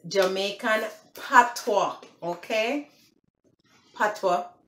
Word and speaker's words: patois: It's Jamaican Patois, okay? Patois, pronounced like patois, P-A-T-O-I-S, Patois versus English language, okay?